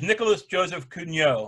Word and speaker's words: Nicolas Joseph Cugnot: Anyway, this guy is Nicolas Joseph Cugnot, I would say is how you pronounce it.